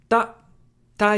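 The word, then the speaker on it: た: it means a warehouse Tai is just the T sound plus ah making a TA sound it's pronounced like TA in Taco ta how to remember ta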